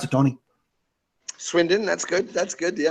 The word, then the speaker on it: Swindon: the British pronunciation swinden swind how do you pronounce it Tony Swindon that's good that's good yeah perfect perfect okay